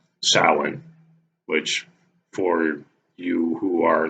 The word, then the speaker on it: Samhain: did this video besides the fact that it's Salin which for you who are not in the know salhan is the proper pronunciation the Gaelic Irish Gaelic pronunciation of the